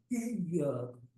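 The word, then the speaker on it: إِيَّاكَ: Iya-nya ditasdid. Banyak orang bacanya iyyaka na'budu wa iyyaka nasta'in. Tidak ada tasdidnya sama sekali, nggak sah.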